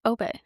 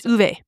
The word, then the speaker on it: Ove: I thought it was Obe. It's Uve. Uve.